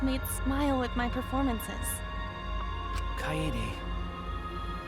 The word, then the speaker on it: Kaede: Kaede. I hate that they pronounce all the syllables of her name.